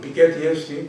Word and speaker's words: Piketty: Pues bien, según dice Piketty, o Piketty, como se pronuncia, que a mí me sorprendió porque creía que no, él dice que en